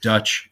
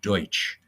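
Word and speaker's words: Deutsch: you think about it Dutch is actually the wrong pronunciation of Deutch uh so Lou went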